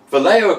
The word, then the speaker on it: Vallejo: Yeah, in the meantime, I'm going to say it right, Vallejo Acrylics Water Features Set.